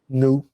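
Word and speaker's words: Nnọọ: me how you pronounce it how do you pronounce that new so the Evo word for hello is new and they call it a warm greeting I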